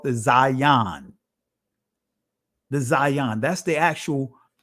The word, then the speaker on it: Zayin: Some would say Aleph Bet, that's the Israeli pronunciation. But this is what is called the Zayin.